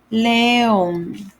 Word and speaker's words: León: There's an apostrophe on the O. because it's longer sound. León.